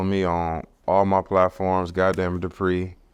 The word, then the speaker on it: Gotdamnitdupri: Gotdamnitdupri. It's spelled as said.